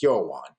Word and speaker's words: Hwan: pronounce my real name my real name is actually Korean and it's hwan it's a complicated name for people to pronounce on the first try my football team didn't